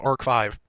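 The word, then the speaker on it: ARC-V: Apparently, Arc V is actually pronounced Arc 5.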